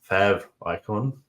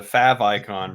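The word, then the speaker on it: favicon: interested to know who who calls it a fav icon versus a fave icon because I call it fave because it's short for favorite but technically it probably would be pronounced fav icon if it was you know a real word depends on the accent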